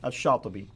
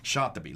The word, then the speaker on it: Shatibi: Now, how would you pronounce his name? Shatibi. Shatibi.